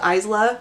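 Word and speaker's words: Isla: by the way her name in fact is pronounced Isa according to the audio book so Isa Crown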